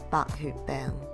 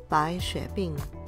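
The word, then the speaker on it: 白血病: numbers, you're talking leukemia, Bak Hu Beng, Bai Xue Bing. Notice there's three different pinyin versions for the Mando way of saying leukemia, where the blood part can be heard as xue, xue, xie.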